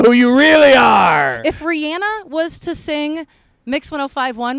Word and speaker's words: Rihanna: now we know who you really are if Rihanna was to sing mix 1051 what would it sound like if Rihanna yeah or her name is her name is pronounced Rihanna oh it is I didn't know that how